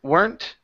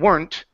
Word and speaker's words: weren't: word aren't and weren't some teachers pronounce it werent and R rent okay but I was never taught that way okay I wasn't taught that uh because it's now uh a contraction we pronounce the E okay so with words like aren't and weren't it's just like saying were plus not so weren't and are plus not aren't so we don't add